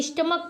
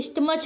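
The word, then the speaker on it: stomach: silence है यहां पे स्टमक पढ़ते हैं ना कि स्टमच पढ़ते हैं तो इस तरीके से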